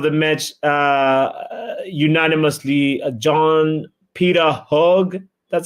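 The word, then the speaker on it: Hauge: the man of the match unanimously, John Peter Hogg.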